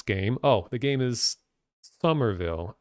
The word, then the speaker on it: Somerville: oh the game is Somerville I believe it's just pronounced summer it's s-o-m-e-r Somerville Somerville and the